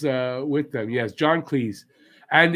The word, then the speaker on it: Cleese: peace shut up john cleese was uh with them yes john cleese and it's pronounced please and it really was